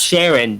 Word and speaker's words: Sharon: Grigsby Sharon Grigsby yes Sharon yeah just remember it rhymes with Karen Dean Sharon and Karen